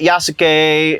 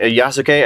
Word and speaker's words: Yasuke: yes I see that yasak yasuke I think is how you say his name yeah yasuke I see that yasuke